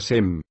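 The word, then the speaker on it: שם: la cultura me explico en hebreo nombre se pronuncia sem en dicho idioma también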